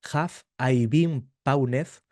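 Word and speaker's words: Have I Been Pwned: Eh, otra herramienta gratuita que recomiendo se llama Haf i Bein Paunev. Se escribe eh h a v e i latina.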